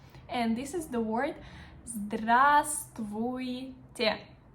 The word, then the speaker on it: здравствуйте: Formal word is very long and kind of complicated to pronounce. And this is the word здравствуйте. Здравствуйте.